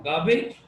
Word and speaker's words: garbage: गार्बेज, कूड़ा करकट। आर silent है क्योंकि आर के आगे कंसोनेंट है।